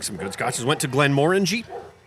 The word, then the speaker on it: Glenmorangie: Went to Glenmorangie. How was that? And that's how that's pronounced. Is Is it? Glenmorangie? Yeah. Like orange. I always know said that. it Glen Moraine, like That's how I a dick.